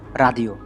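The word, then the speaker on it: radio: ইংরেজিতে রেডিও, Italian ভাষায় হবে রাদিও।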